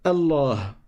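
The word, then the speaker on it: الله: Ensuite, on a le nom Allah. Alors, pour commencer, on a ceif qu'on ne prononce pas parce qu'on fait la liaison et on passe directement au lem.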